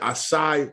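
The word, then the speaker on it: açaí: live bold pull up get your uh yeah aside that's how you say it get your acai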